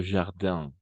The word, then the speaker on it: jardin: Todos los que terminan en IN, en francés, las palabras todas que terminan en IN se van a pronunciar como una AN.